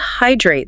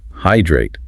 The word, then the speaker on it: hydrate: It has two syllables, hydrate. The emphasis is on the first syllable. Hydrate.